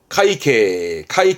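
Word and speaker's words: 塊茎: 발음은 콩케. 그러니까 뿌리 줄기. 요게 괴자라, 덩어리 괴자인데, 괴경이라는 것은 덩어리 줄기, 덩이 줄기인데요. 카이케, 덩이 줄기.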